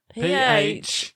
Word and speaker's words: pharaoh: P-H-A-R-A-O-H. Pharaoh. As in Tutankhamun, Cleopatra, Egyptian kings or queens. Pharaohs. Excellent. You found that sneaky P.